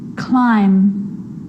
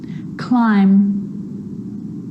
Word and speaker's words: climb: It's always silent when it follows the letter M. Climb, crumb, lamb, thumb, dumb, and plumber. So practice them with me. I'm not pronouncing the B, I'm just pronouncing the M consonant sound.